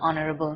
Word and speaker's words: honorable: So we don't say a honorable man, we say an honorable man.